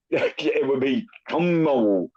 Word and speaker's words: chomo: It would be Chomo, you dumb motherfucker.